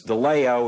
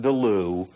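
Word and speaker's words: De Leeuw: to pass Lisa Deo and that's how it's pronounced folks it's Deo it's not Duo girl from seex this is for people that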